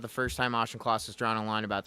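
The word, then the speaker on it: Auchincloss: I don't know how to pronounce his name. Uh Ashenclaus.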